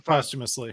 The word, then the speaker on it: posthumously: Yeah, you're saying posthumously.